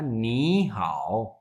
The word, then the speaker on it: 你好: जैसे हमने कल सीखा था नी हाओ, वैसे अगर हम सेपरेटली पढ़ें तो नी की टोन क्या होगी?